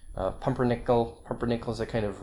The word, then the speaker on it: pumpernickel: these examples sorry now occasionally not too often occasionally get minus four stress on the fourth syllable from the end controversy pumpernickel pumpernickel is a kind